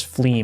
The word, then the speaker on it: fleam: The word fle is pronounced as flee, rhyming with team or seam.